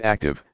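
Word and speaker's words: ACTUV: Trail on manned vessel akshov pronounced active the active program produced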